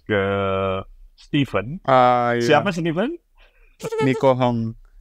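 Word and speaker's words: Nie Hoe Kong: Nico Hong. Kapitan Nico Hong ya bacanya gitu ya.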